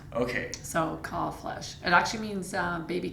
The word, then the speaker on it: Kalbfleisch: one it is and the B is silent okay so C flesh it actually means uh